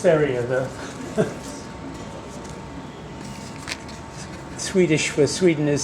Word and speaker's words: Sverige: I do know it's pronounced Sverige, though. Swedish for Sweden is Sverige.